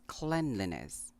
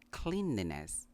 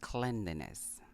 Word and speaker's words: cleanliness: Now this is a bit tricky since the word clean is pronounced clean, but in the word cleanliness, the first syllable is pronounced clen. So it's cleanliness. It's not cleanliness, but cleanliness.